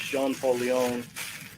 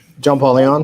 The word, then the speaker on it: John Paul Leon: and what we're showing off, comic book artist Jean Paul Leon, am I saying it right? John Paul Leon?